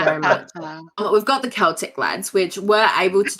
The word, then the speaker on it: Celtic: I have it as a K in my notes, so I won't say it wrong. Thank you very much. We've got the Celtic lads, which were able to do a couple of runs.